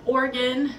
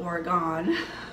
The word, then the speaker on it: Oregon: I was born in Oregon, not Oregon. Oregon, it's the state on the west coast, above California, below Washington.